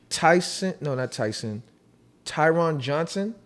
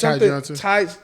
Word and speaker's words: Ty Johnson: You have Tyron Johnson. Yeah. Is that how you say it? Ty? Yeah. It's Ty Johnson.